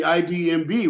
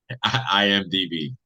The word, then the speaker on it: IMDb: before the So shutdown, basically, you're part of the IDMB, right? Did I say it right? no, IDMB. IMDb, International Movie Database, I IMDb.